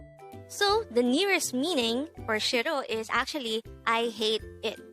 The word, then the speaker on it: 싫어: hangover word number 179 this is pronounced as a two-syllable word the first syllable is the second syllable is o pronounce it with me shiro the korean word shiro is used to say